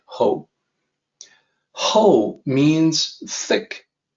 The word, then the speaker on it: 厚: This is ho. So the pinyin system makes it seem like it should be how, but it is actually supposed to be ho.